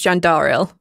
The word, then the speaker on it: Jandaril: a hand and he says hi my name's jandaril i'm sorry if one would have spelled that